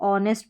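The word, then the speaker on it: honest: यहां पर एच जो शुरू में आ रहा है यह साइलेंट है।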